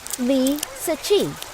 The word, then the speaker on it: Li Ziqi: china it's the opposite so the correct spelling is lee sachi who is lisa chi li sachi is a